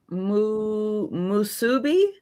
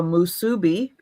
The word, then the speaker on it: musubi: Musubi? I don't think I've ever heard of a musubi.